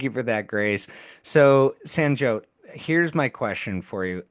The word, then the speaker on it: Sanjyot: Sanjot, let me make sure I pronounce it.